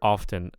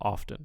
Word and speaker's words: often: So, in the word often, there is primary stress on the first syllable, often, not often.